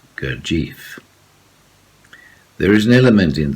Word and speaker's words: Gurdjieff: in the gordia kojif sorry my pronunciation is very finnish i can say cortif but most people who follow the court of teaching and have something to do with him they pronounce gurjeev there is an element